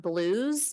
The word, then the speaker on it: Belew: There's also a little drive-in-esque place called Blues, but it's spelled Belew.